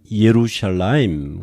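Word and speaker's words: ירושלים: 지원 이렇게 발음 하고요 예루살렘은 이에 루샤 라임 그래서 여러분이 적어도 이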